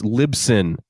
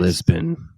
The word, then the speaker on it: Libsyn: No, it's Libsyn. Sorry. Jesus Christ. Lisbon.